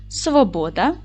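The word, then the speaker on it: Svoboda: найпопулярніші в Чехії прізвища Дотримуйтесь діти правила наголошення чеських слів пам'ятайте його правильно наголос буде падати на перший склад Отже Новак Свобода Дворжак чех горок Шипка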